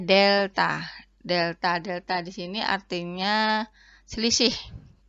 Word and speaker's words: delta: Ini maksudnya itu bukan bacanya segitiga Y dibagi segitiga X, bukan. Ini bacanya delta.